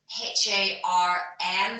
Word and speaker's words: harn: And that is spelled H-A-R-N for November, harn.